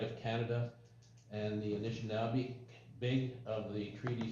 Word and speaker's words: Anishinaabe: and processes in the best interest of the Anishinaabe, did I pronounce that right?